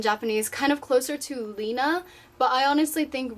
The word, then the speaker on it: Rina: to that name basically and rina is actually pronounced dina in japanese kind of closer to lina but i honestly think rina sounds better so i like the r more